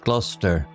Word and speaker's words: Gloucester: Lady Hermione agreed it would be splendid adventure with a map marked with peculiar names like Lester pronounced Lester and Gloucester pronounced Gloucester. They planned their journey.